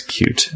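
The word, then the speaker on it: Qt: was hoping to promote pronouncing cute the right way which he phonetically spelled out as cute I'm reading that the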